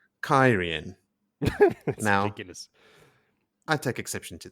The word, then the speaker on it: Cairhien: you guys before recording pronunciation of what thus far I have called kahine is actually kyrian ridiculous I take exception